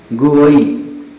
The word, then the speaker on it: GUI: This is popular known as GUI, commonly pronounced GUI.